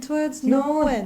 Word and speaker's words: towards: Oh, and this this is hard cuz you have like it's technically two syllables, but you have to go like towards. Yeah, it has this needs to be one syllable.